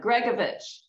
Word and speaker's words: Gregovich: Gregovich. Okay, I was right. Yes. Are you about how to pronounce?